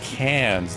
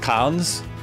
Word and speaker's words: Cairns: Pronounced cans. The R is silent. An Aussie thing. Carns is pronounced cons.